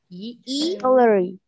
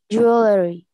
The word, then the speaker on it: jewelry: Jewelry. Huh? Jewelry. No, there is a long sound.